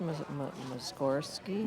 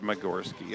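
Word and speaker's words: Mussorgsky: So, I pronounced it wrong. It's modest muscorski. Muscorski. Yep. I said Morski. I missed the S's there. Morski.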